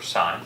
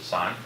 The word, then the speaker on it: sin: So SIN, so sin, or sine, that's how you pronounce it, sine, of an angle.